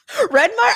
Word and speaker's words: Redmayne: Redmire? I don't know how to say his last name. Yeah, okay. All right, fine. Eddie Redmayne.